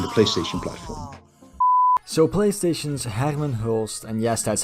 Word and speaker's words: Hermen Hulst: with PC and the PlayStation platform so PlayStation's Hackman host and yes that's how you pronounce that name I don't want to see